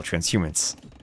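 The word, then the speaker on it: transhumance: Transhumans. Okay, I am adding extra syllables still. Transhumans.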